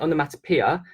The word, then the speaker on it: onomatopoeia: And the M bit, I know we pronounce it onomatopoeia, but I teach my kids to spell it like this.